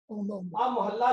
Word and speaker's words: महला: जी सब नु आ रहा है बोर्ड नजर मोहल्ला लिखा एक वड्डा करके लिखिए इस तरह का उच्चारण है मोहल्ला।